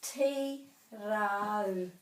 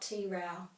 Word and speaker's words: Tirau: Tiro is a place, and it's tirau, not tirau.